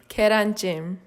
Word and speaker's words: Gyeran Jjim: speaks Korean fluently, so here's how it's actually pronounced. One more time now, a little louder. Gyeran Jjim.